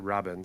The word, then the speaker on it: Rabin: Like every fucking Israeli person I've spoken to, which is like 3, I've heard say this, is they pronounce it Rabin.